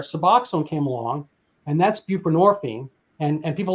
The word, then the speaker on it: buprenorphine: came along and that's buprenorphine and and people like what is that well I mean the hint is it rhymes with morphine which is derivative from